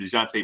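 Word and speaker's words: Dejounte: antonio spurs rob the nick is saying his name wrong it's dejante murray yeah murray murray grew in that garden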